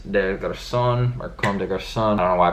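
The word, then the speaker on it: Comme des Garçons: boys it's clonise they've got a son or comme des Garcons on a why I pronounce it wrong the first time their constant twice unnecessarily but yeah comme des Garcons cg y'all know about them they've done collaborative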